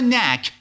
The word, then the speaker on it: knack: Have a knack. The first K is silent.